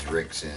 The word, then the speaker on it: Rickson: And many of their names start with R, but pronounced as an H. In Portuguese, when the R is in the front of the word, it's pronounced as an H. So here in America, everybody thinks that Royce's name is Royce, and Dixon is Rickson.